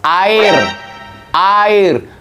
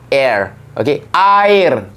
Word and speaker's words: air: people in the world This is how you pronounce a in Southeast Asia especially in Brunei In Singapore Indonesia and Malaysia it's a a not air the video not Shows